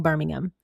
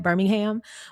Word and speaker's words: Birmingham: And yes, you would emphasize, I don't know about emphasize, but you would pronounce the ham in that Birmingham. But Birmingham, England, it's kind of all together.